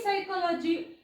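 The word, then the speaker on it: psychology: दिसेल तुम्हाला सायकॉलॉजी इथ पी सायकॉलॉजी असं म्हणत नाही पी सायलेंट असतो सायकॉलॉजी इथे सुद्धा बघा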